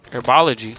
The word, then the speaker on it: Airbology: Airbology, that's a better way to pronounce it.